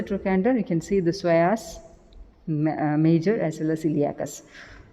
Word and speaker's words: psoas: They are both iliacus and psoas major together called iliopsoas. Iliopsoas. Psoas major spelling P-S-O-A-S. Psoas. P is silent there.